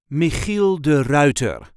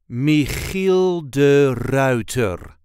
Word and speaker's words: Michiel de Ruyter: the correct pronunciation is Michiel de Ruiter Michiel de Ruiter There is a light emphasis on the first part of the last name Michiel de Ruiter Mel